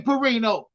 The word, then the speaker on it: Perino: pronouncing Perino name wrong that that's how he that's how he pronounced he say his name Perino I I should have